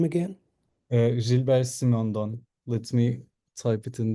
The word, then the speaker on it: Simondon: Maybe I'll just pronounce it different for the spelling. So Mark, it's just Gilbert Simon Don. Gilbert Simon Don Gilbert.